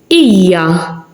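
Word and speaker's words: hija: Iya, the akka is in the beginning, so it's silent.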